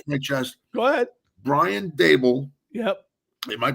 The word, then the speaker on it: Daboll: Brian Daboll. Yep. Am I pronouncing that right, by the way?